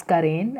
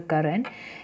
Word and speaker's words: Karen: Sorry, it's Karen. I have pronounced it as a Karan. It's Karen.